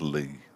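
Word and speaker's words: Ley: It's pronounced Lee. Thank you, Drew. Not Lay. Lee. L-E-Y. It also means field, doesn't it? Lee, Silver Lee. Doesn't it? Yeah, L-E-Y.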